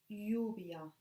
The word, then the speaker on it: lluvia: Two L's together are pronounced like y. Like for example, lluvia, rain, lluvia.